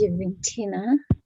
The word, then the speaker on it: Juventina: Juventina, is that the right pronunciation? Yes, as Juventina.